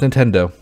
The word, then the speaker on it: Nintendo: like you know and it's not like accent to it just Nintendo it's how it is it's it says as it's spelled um so yeah he